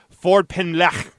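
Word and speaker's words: Ffordd Pen: name of the street I actually listened to a CNN report about the name of the street and I believe that's how they pronounce it Ford pen oh good I could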